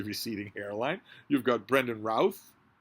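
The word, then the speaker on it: Routh: hairline you've got Brendan Ralph rhymes with mouth short for a nickname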